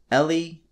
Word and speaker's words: Ellie: lot in the previous games throughout their Journey Ally and Abby finally get to talk about what